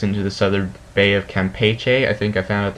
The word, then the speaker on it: Campeche: You can see it brings it across the Yucatan, takes into the southern Bay of Campeche. I think I found out that's how you really pronounce that.